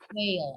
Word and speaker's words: whale: Whale, oke, good.